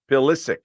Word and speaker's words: Pulisic: Pulisic? Pulisic.